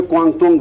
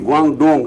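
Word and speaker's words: Guangdong: लेकिन उनकी भाषा में क्वांगतोंग बोलते थे, क्वांगतोंग यूनिवर्सिटी। और स्पेलिंग थी GUANG, ग्वांग DONG, ग्वांगडोंग हम लोग बोलते थे, लेकिन उनकी डी का ता उच्चारण होता है।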